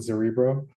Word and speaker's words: Zerebro: that right uh so it's like cerebro so that's kind of how you pronounce it zerbo um so yeah well